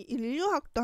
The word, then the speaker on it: 인류학: 그러면은 우리 인류학도 한번 보도록 해볼게요. 인류학인데 얘는 니은하고 리을이 만났을 때 니은이 리을로 변하는 유음화 현상이 일어나서 인류학 된 거죠. 그래서 발음이 똑같아졌다 라고 볼 수 있습니다.